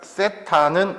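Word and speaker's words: θ: 그러면 여기가 세타는 우리가 각을 쓸 때 많이 써. 물론 세타를 안 써도 돼. 이거 세타라고 읽는 거 알아? 처음 봐? 처음 봐? 오케이. 자, 이렇게 하고 이렇게 세타라고 읽어.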